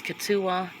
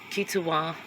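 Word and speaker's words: Kituwah: legend of the katas I have heard three different pronunciations for the word there's katua there's kitua and then there's guadua Cherokee occasionally refer to themselves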